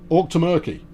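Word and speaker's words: Auchtermuchty: The Outer Muckley in Scotland is pronounced Orc ter Merk T. Orc to Murky.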